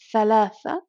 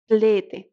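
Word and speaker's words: ثلاثة: For instance, we have the number thalatha that some Arabs would pronounce tlete.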